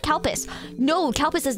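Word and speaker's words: Calpis: l p i s we call it CPUs as a joke because it literally sounds the same in Japanese it's kupu it's cow piss but it sounds like cow piss so it's like well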